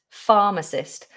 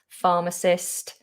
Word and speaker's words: pharmacist: Pharmacist. A lot of words, in fact, all words that begin with PH is pronounced with an F. Pharmacy, pharmacist, pharmaceutical.